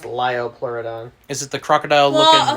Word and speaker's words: Liopleurodon: it was is it the crocodile-looking one it's pronounced liopleurodon is it the crocodile looking whale so how